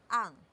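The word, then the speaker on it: 앙: ending of the syllable, it has an ng sound, all right? For example, it's a, and then we put the iyong at the ending of the syllable, so it has a pronunciation of ang.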